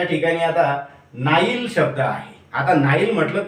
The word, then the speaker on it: Nile: ते नाईलचं स्पेलिंग आहे, नाईल नदीचं NILE, त्याला तुम्ही वाचून राहिले निळे.